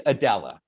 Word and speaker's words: Aidala: uh it's pronounced uh man oh it's pronounced Smythe no it's Adella yeah we keep it easy yeah well in